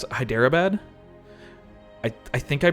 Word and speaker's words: Hyderabad: They're dudes from, how do I pronounce it? Hyderabad?